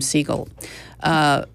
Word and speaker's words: Segal: named Shelly Segal and she purposely pronounces her name seagull and she's going to